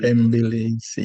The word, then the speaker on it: bembeleza: So you say Bembeleza.